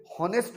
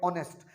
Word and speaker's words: honest: देखिए क्या होता है कि ये जो HONEST होता है, इसका प्रोनाउंसिएशन हॉनेस्ट नहीं होता, इसका प्रोनाउंसिएशन होता है ऑनेस्ट।